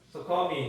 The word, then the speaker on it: succumb: succumb이 이제 SUCCUMB 거기까지가 이제 succumb이라는 뜻이거든요. 여기 이제 굴복하다. 그래서 to하고 이제 같이 연결됩니다. 어디에 굴복하다. succumb to. 여기 이제 B는 묵음이라고 보시면 돼요. 발음이 안 돼요.